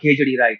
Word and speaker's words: Kedarnath: But you've also broken labels by doing amazing you know, movies like Kedarnath. I think am I pronouncing it right? Yeah. Yeah, Kedarnath.